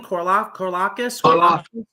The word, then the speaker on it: Karlaftis: Karlaftis.